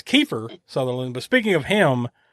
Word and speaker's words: Kiefer: Speaking of Kiefer Sutherland, am I the only one that ever says Keither Sutherland?